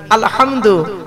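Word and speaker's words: الحمد: পড়ি আলহামদুলিল্লাহি রাব্বিল আলামিন, আলহামদু হাই হতি হাই হাওয়াজ নয়, আলহামদু এ গলার ভেতর থেকে এটা উচ্চারণ হবে, আলহামদুলিল্লাহি রাব্বিল আলামিন মানে হচ্ছে সমস্ত প্রশংসা আল্লাহ তোমার।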